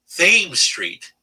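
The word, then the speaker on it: Thames Street: tradition in baltimore that when you are on theme street you do not pronounce it chem street and you will be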